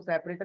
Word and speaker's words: sep: तो सेपरेटर pronounce को सेपरेटर ही करेंगे, बट जब लिखते हैं तो SEP लिखते हैं।